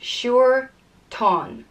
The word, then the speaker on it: Siúirtán: And it's pronounced Siúirtán, Siúirtán. And it has two fadas, one over the U and one over the A.